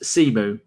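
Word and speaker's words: Symeou: Harry Simu is pronounced Simu, like I thought.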